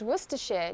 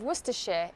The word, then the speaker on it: Worcestershire: to my marinade for extra flavor Claudia visited wor share during her trip to England the recipe calls for a splash of Worcester share in the dressing I bet you're surprised to learn how to pronounce werer correctly croquet croquet croquet is a lawn game